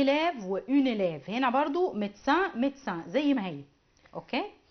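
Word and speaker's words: médecin: طيب وعندي مهن برضو ما بتتغيرش خالص زي كلمة ميدسان، ميدسان ميدسان اهو ميدسان مي دو سان، بس انا لما اجي بنطق فبقول ميدسان على بعضه.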